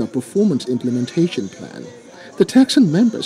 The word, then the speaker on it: PTECSSAN: The Private Telecommunications and Communications Senior Staff Association of Nigeria, pronounced TEK-SAN, has picketed the Lagos Office of Telecommunications giant MTN Nigeria over anti-labor practices.